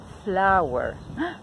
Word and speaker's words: flour: Entonces, si se acuerdan que la pronunciación de harina es igual que flor, okay, ya saben cómo decirla.